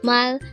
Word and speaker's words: 말해: a three syllable word the first syllable is Mal second syllable is he pronounce it with me Mal